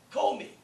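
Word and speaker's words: κώμη: And I could say, kome. Okay, we're going to answer that. Kome. Look at the stress. That acute is on the omega. That's the syllable that you'll stress, wherever the accent mark is.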